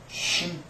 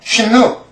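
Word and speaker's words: שין: 이것이 쉰 쉰 그래서 쉰요 발음하실 때 뭐 이렇게서 음식이 쉬잖아요. 뭐 보리밥이 쉬다 그럴 때 그때 그냥 그 소리 내시면 되 됩니다. 그냥 쉬. 근데 문제는 UN 하고 끝나는게 아니고 UN 쉰 이러셔야 돼요.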